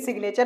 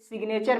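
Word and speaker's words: signature: पे जाते हैं तो सिग्नेचर में जी का उच्चारण किया जाता है तो 90% शब्द आपको ऐसे मिलेंगे जिसमें जी भी साइलेंट होगा लेकिन 10% ऐसे मिलेंगे जिसमें जी साइलेंट नहीं होगा इसीलिए सिग्नेचर में जो है जी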